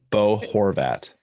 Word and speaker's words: Bo Horvat: move out of this question um is it pronounced bo horvat bo horvat his good job fred well it's just fanatic